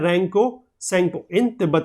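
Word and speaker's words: Tsangpo: ठीक है, इसमें टी जो है वो साइलेंट है तो सेंगपो बोलते हैं इसको।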